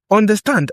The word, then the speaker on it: understand: Understand has stress on the final syllable.